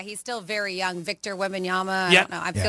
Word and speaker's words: Wembanyama: How do I say Wembanyama?